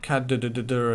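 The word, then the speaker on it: cdr: So we can pronounce it cadder, and you can reasonably easily hear what I'm saying.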